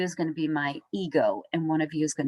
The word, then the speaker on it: id: So if you're having a hard time keeping what the id does, some of you will pronounce it as ID, and it's not, it's actually id.